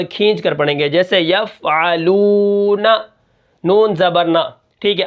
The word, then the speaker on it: یفعلون: کس طرح ہوں گے، یا فا زبر یف، عین زبر ع، یفع، لام واو پیش لو، یفعلو، نون زبر ن، یفعلون، وقفن یفعلون۔ اب یہاں پر آپ